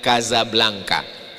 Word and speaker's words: Casablanca: Tulisannya Casablanca. Cara bacanya Kazablanka.